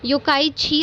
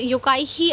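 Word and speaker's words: Yokkaichi: कुछ लोग योकाई छी बोलते हैं या फिर कुछ लोग योकाई ही अस्थमा बोलते हैं, ठीक है। तो दैट डिपेंड्स ऑन यू, जब तक आपको स्पेलिंग आती है सो इट is perfectly fine, ठीक है। ये कहाँ पे हुआ था,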